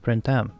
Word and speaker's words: Printemps: Hanukkah Kotori and hanio their name is the French way of saying the spring season which I guess means it's actually pronounced sprintem my French teacher would